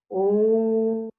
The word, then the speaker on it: Om: You can either chant Om as Aum, or you can chant it as Om. Both are effective.